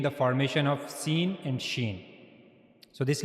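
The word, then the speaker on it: ش: When the middle of the tongue connects to the roof of the mouth, then we'll pronounce shen correctly.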